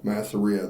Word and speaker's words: Masseria: were he just killed uh Marzia Masseria Masseria Masseria that's how you say that thank you Masia he had just killed Masseria uh who was uh the head of a